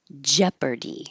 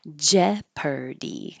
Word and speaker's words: Jeopardy: Jeopardy. I always think this is the weirdest looking word compared to how it sounds. Jeopardy.